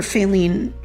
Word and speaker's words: Faline: I think she was trying to resuscitate her dying channel with her FAY-line, Faline... It's funny how Faline rhymes with “failing.”